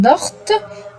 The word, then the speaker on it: dort: I don't say on dort, I say on dort. Donc le T est muet. T is silent.